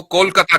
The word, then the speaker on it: कोलकाता: आपने कलकत्ता को कोलकाता कर दिया, क्योंकि उसका प्रोनाउंसिएशन कोलकाता है ना, बंगाली प्रोनाउंसिएशन।